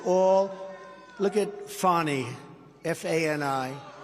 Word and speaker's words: Fani: It's all, look at Fani, F-A-N-I. It should be pronounced Fanny.